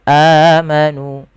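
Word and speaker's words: آمَنُوا: Kemudian pada lafal amanu ada huruf hamzah yang bertemu dengan huruf mad setelahnya pada lafal amanu, maka kita namakan dengan mad badal. Kita panjangkan sepanjang 2 harakat sebagaimana mad tabi'i.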